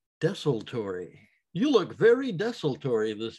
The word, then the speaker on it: Desultory: death metal band called desolatory or desaltery but i think the correct pronunciation is desolatory you look very destitory